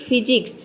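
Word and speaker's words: physics: है पीएच ठीक है किसी भी वर्ड में अगर पीएच भी आपको दिख जाता है तो इसे हम एक लेटर में प्रोनाउंस करते हैं फ जैसे कि फिजिक्स फिजिक्स का मतलब होता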